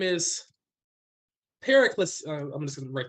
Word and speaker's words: Pericles: to break this up pericles yes pericles yes i'm not sure how to spell that properly we got it this one looks like it is in disinformation this is in greek uh like hercules but yeah perry flees